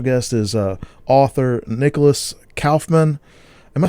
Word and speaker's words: Kaufmann: saying it right because i'm used to saying kaufman but it's kaufman it is it's just like